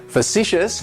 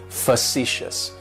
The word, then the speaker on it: facetious: describes me is facetious facetious has three syllables and the stresses on that second syllable it's like you're just saying the letter C fuh si s and that first syllable has that schwa that sound facetious facetious facetious